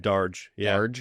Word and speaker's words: Darge: Did I pronounce that right? Darge. Yeah, you could do a little fine. Yeah, that's cool. Darge.